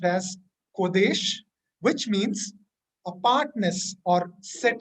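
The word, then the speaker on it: קודש: The Hebrew word for holy is pronounced as kodesh, which means apartness or set apart or separate or sacred.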